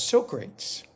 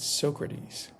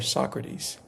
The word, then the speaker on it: Socrates: of the table readings he was pronouncing Socrates uh as Socrates. And so uh during a break, Quincy pulled him aside according to this person um and said, "Hey, um you know, we don't pronounce it so great. We pronounce it Socrates or Socrates."